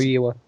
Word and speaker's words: Famuyiwa: I can't Rick pronounce his last. Famuyiwa.